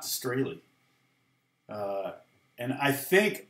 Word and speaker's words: Strahle: name, by the way, it's Strahle, long A, long E. It's not really supposed to be Strahle, but that's how us American morons pronounce it. In German, it would be Strahle. So, you have to say it angry like that.